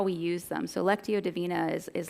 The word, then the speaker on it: Lectio Divina: And I keep seeing something about, I'm going to say it wrong, Lectio Divina?